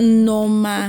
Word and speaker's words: Nneoma: At least I pronounce Nneoma very well. Nneoma.